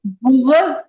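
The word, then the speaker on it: بغض: आप लोग इसे पढ़ रहे थे ना बच्चों, तो इसकी प्रोनाउंसिएशन, इसका तलफ्फुज देख लो। एक दूसरे से बुग़्ज़ ना रखो, ठीक है। बुग़्ज़ बा के ऊपर जैसे पेश होती है ऐसे पढ़ा जाएगा, ठीक है।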